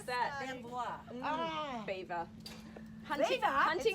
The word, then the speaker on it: Belvoir: How do you pronounce that? Belvoir. Ah. Beaver. Hunting, Beaver? hunting It's with the beaver beaver. watch. It's Not Belvoir.